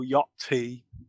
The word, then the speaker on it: Yachty: But I don't pronounce the T when I say yacht. But when someone says yachty, I feel like I need to pronounce the T now because it's Yachty. I feel too conscious of the T when there's a Y after it, so I can't help myself.